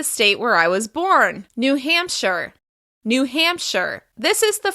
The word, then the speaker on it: New Hampshire: New Hampshire. The stress is on the first syllable of the second word. New Hampshire.